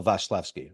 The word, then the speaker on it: Wasilewski: If you say it properly, Michael Wasilewski, of course, with the Polish accent.